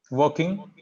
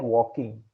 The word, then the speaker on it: working: Working. Yeah. So when you initially said it quickly, it sounded like walking. Oh, okay, okay, It's yeah. working. So R is silent here.